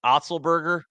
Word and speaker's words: Otzelberger: I mean, is TJ Otzelberger? Is that how you pronounce it? I know I was saying that off air. Is that right? Otzelberger?